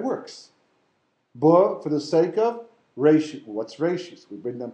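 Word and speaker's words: ראשית: So Reshis is the proper pronunciation.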